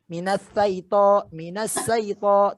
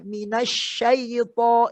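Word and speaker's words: مِنَ الشَّيْطَانِ: Minas saito. Tapi kalau kita bacanya minasyaito, insya Allah aku berlindung kepada Allah dari godaan syaitan yang terkutuk.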